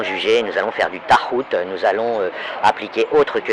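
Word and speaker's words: toghout: Et quand vous avez quelqu'un qui est anti-tahout, tahout ça s'écrit, moi je prononce comme j'entends que c'est prononcé dans les milieux islamiques, mais ça s'écrit T-O-G-H-O-U-T.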